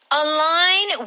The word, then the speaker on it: align: that no no okay align with something and the spelling is very important and that g in the middle is silent means that you are